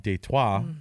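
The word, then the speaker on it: Détroit: history which is why we call it dtoa right which is the French pronunciation of Detroit and um yeah it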